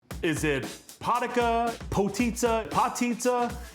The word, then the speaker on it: potica: So I will have to admit to you guys that when our producers came to me and said, hey, we're gonna do potitza, I thought she said pizza.